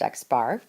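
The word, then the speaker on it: x̄: defined right here as X bar and it's pronounced X bar they are just the total of all the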